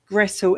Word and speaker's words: Gretel: we're aware because um English tend to bastides any kind of language but actually it is Gretle is g r e t e l. Um that's how it's spelled.